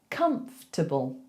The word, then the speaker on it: comfortable: We actually say comfortable, comfortable, comfortable. So it's not comfortable, it's comf, comf. So I want you to make that one syllable, comf, and then tibble, tibble. There's barely anything between the T and the bull. It's just tibble.